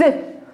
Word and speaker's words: œufs: Non plus, on dit des œufs. Pour le pluriel, on dit des œufs. Le F sera muet.